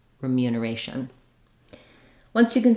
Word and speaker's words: remuneration: can help you here if you start on a or ration remuneration that can help you get the Rhythm for a long word like this I also suggest just going slowly syllable by syllable and then building it building up speed as you go that would sound like